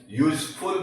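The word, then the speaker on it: useful: English का स्वर है, लेकिन जब हम इसको प्रोनाउंस करेंगे ना तो वो हिंदी के कॉन्सोनेंट से करेंगे, यूजफुल।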